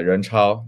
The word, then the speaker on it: Renchao: So, Renchao, that's the right pronunciation, Renchao? Yeah, Renchao.